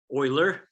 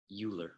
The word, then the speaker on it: Euler: great name to know you definitely want to pronounce it properly Oiler not uler the only problem I'm